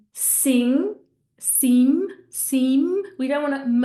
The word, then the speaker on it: sim: So hopefully by putting that ng at the end of those words, you're going to be pronouncing them correctly.